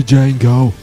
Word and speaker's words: Django: Just like Django Unchained, where the D's silent. The Django.